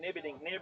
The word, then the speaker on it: Nieberding: How'd you go this morning with Emma's pronunciation of her name? Emma Nieberding. Yeah, Nibberding. Oh, we had someone up Yeah, someone told us. Nibberding. Nibberding. Nibberding.